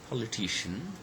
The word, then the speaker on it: politician: Then we have got another word, politician, where actually it's the third syllable, okay, which is stressed.